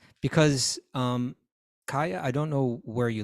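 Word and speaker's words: Kaia: How are we supposed to pronounce Kaya. that? You pronounce that Kaya. How do you know that? I looked it up. Kaya. It's K-A-I-A.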